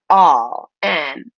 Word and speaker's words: all: But for now, we're going to pronounce it all. And you'd see this and you'd think it would be pronounced ah, but it's actually pronounced aw, ul. So it's all.